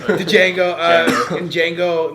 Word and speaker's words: Django: D is silent, motherfucker. The Django, in Django, like within the first 10 minutes, someone got shot.